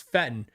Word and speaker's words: Feiten: And one day I asked him, I said, "Hey, how do you say Buzz? Is Buzz Feiten or Buzz Fetten?" He goes, "It's Fetten."